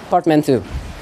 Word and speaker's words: portmanteau: So as you can see, the spelling is portmanteau, yeah, but the pronunciation is portmanteau.